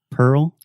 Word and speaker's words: Pearl: right now on air repeat with me three times Pearl Pearl Pearl Pearl Pearl Pearl girl girl squirrel squirrel nice Pearl Harbor Pearl